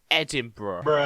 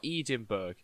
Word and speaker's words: Edinburgh: the duke of edinburgh you are wrong it's pronounced edinburgh not edinburgh thank you but if you guys didn't know